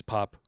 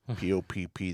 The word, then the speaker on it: Popp: P-O-P-P, the second P is silent.